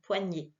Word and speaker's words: poignée: Alors qu'une poignée, c'est le son E qui est cette fois avec un accent aigu, poignée.